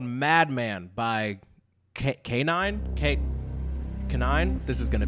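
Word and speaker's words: Kniine: This first song is called Madman by K9. K9. This is going to be a ongoing issue throughout the video. If you go to this person's YouTube channel, okay, it's spelled K-N-I-I-N-E. That's K9, right?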